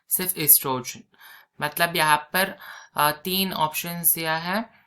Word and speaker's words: oestrogen: है प्रोजेस्ट्रोन है ना एस्ट्रोजन या वो भी लिख सकते हैं मगर वो साइलेंट हो जाता है एस्ट्रोजन और प्रोजेस्टेरोन